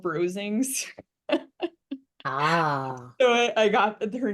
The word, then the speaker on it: Rosings: digger I loved her Mrs how do you pronounce the name Rosings Rosings yeah I loved her so much honestly so